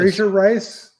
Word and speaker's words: Fraser Rice: How do you pronounce that name? Fraser Rice. Fraser. Raise your eyes. Fraser Rice.